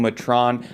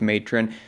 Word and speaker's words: Matron: number one pick Goblin Letran I always say it wrong I've been saying the name wrong since I first started playing it I know it's matron but it annoys people